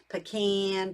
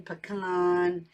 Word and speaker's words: pecan: and then pecan pie now pecan pecan however you want to say it right but I love